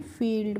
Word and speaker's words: field: तो इसको हम क्या पढ़ते हैं, फील्ड पढ़ते हैं।